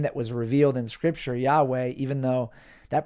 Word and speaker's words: Yahweh: letters yod he VAV to the best of our knowledge it's pronounced Yahweh and if someone tells you that God's name is Jehovah it's not like you have to heat check them and say no it's not Jehovah it's just that's not how God's name is vocalized or pronounced and the fact that we've